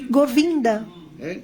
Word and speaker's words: Govinda: E seu nome também é chamado de Govinda. Govinda. Govinda. Towards just syllable. Então, são duas sílabas separadas. Go e vinda.